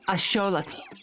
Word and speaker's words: axolotl: I 100% of the time pronounce as axolotl, which is how it's pronounced in Nahuatl.